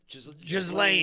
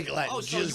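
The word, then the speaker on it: Ghislaine: No, listen listen Gwen Glenn Matt, how do you say her name? Jlane. And I always say Glenn here some crazy stuff.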